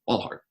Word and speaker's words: Walthall: I think that's how you pronounce it. Walthall.